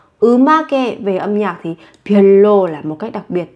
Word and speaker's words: 별로: 별로, 별로, 별로. Một cách đặc biệt, các bạn phát âm giống với âm L.